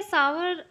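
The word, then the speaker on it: sour: milk है stunt server इसको जो है स्वर प्रोनाउंस करते हैं मतलब अजीब सा वर्ड सा लगता है लेकिन इसको प्रोनाउंस ऐसे ही करते हैं स्वर सो मिल्क हस टर्न्ड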